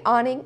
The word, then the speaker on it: Anning: Mary Anning, or Anning, and I might go back and forth between saying those two pronunciations during the duration of